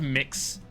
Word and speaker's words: Mx: same question sir ma'am Mr MS pronounced mix it's tacky yeah it